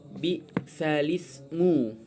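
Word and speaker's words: بئس الاسم: Biasanya kan dibaca bisal ismu. Nah, karena ini nakal, jadi cara pembacanya adalah bisalismu. Fathah hamzanya itu, alifnya itu enggak perlu dibaca, langsung ke lam.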